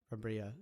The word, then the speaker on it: Brambilla: Brambilla? Brambilla, yeah.